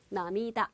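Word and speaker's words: 涙: 그래서 요 눈물 놓자는 우리가 발음이 어떻게 들어간다? 한자는 하나지만, 남이다. 이렇게 들어간다.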